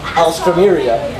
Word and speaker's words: alstroemeria: It's actually an alstroemeria. Yeah. It's like Astros, but it's actually Alstro. And T-R-O-E. And then M-E-R-I-A.